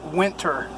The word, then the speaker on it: Whynter: turn this on and that is actually pronounced winter so it's really nice